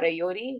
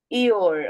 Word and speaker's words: Eeyore: I want to remind everybody, Ayor or Ayori. Yes, Samaira, kya pronounce karte hain? Eeyore.